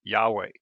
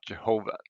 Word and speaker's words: Yahweh: start with yah namely so it becomes yahweh yeah and not jehovah so but that's just